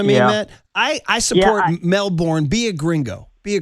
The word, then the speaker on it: Melbourne: He's back for um I've been pronouncing this wrong apparently. It's Melbourne. That's how you say it. In in Australia, it's not Melbourne.